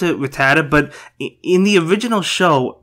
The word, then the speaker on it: Rattata: so yeah really cool stage I really like rat attack I know some people pronounce it Rattata but in the original show back when I was a kid they called it rat attack now they call it Rattata so what do you guys call it you